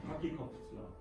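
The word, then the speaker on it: Kirchhoff: 이게 키르요프의 법칙이잖아요. 여러분들 그 일반 물리 시간에 키르요프의 법칙 배웠잖아요. 커키컵스라. 일본 미국식으로 하면 커키컵스라고 발음을 하던데 그 사람은 어느 나라 미국 사람은 아닌데.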